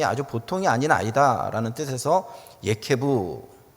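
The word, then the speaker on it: יעקב: 경쟁심이 아주 보통이 아닌 아이다라는 뜻에서 예케부, 그래서 그것을 한국식으로 발음하면 야곱이라는 이름을 그에게 지어 주었습니다.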